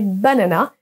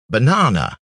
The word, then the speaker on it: banana: vous allez voir que on a un petit e à l'envers ça correspond au son cha donc on prononce be na non vous allez également pouvoir écouter en appuyant sur les scè banana banana banana donc ce